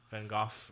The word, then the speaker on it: van Gogh: people there's like so many different ways to pronounce van Gogh van Gogh which is apparently the correct way but how